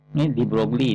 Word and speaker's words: de Broglie: So pada tahun 1924 de Broglie ni dibaca de Broglie. Dia kata de Broglie. Ni cara bacaan lah.